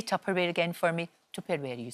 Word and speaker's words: Tupperware: way you sit say Tupperware again for me tuperware you said tuperware tare that's how it should be it would still be going strong if you pronounced it like that I'll tell you but